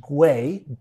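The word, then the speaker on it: güey: Well, we is actually guay guay. But they often actually spell it with a wy like we because it means dude.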